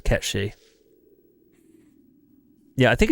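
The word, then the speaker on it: Cait Sith: Yeah, Kate Sif's a piece of Irish folklore, and the way it's pronounced is Ketchy.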